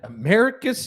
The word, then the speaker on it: Americus: doing that for three years um am I pronouncing that right Americus Georgia Americus Georgia you are pretty isn't that correct is